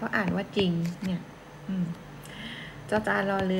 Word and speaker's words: จริง: เนี่ย ออก เสียง เป็น ไม่ ออก เสียง ร เรือ ออก เสียง เป็น จอ จาน มา ถึง เช่น คำ ว่า จริง อ่ะ เนี่ย ตัว อย่าง